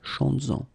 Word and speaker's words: chantes-en: Chantes-en, okay, could be chantes-en une, chantes-en. Alright, so keep in mind that you will have to keep this S, z, chantes-en, okay, to have this link between the two.